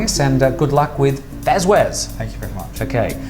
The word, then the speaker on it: FazWaz: Faz Waz.